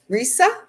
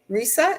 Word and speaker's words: Risa: Risa. Rhysa is her name. Risa rhymes with Lisa.